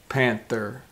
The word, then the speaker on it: panther: month in panther but panther sees more like the this you see on my lips panther panther exaggerate like you're kissing somebody panther but month is